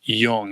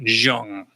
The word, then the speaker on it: Jung: club to understand, well, we say Yung, it's not Jung.